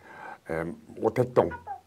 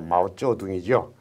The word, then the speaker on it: 마오쩌둥: 자, 여기 화면을 보시면은 레닌과 스탈린 사진이 보이고, 그 옆에 모택동, 중국 발음으로 마오쩌둥이죠.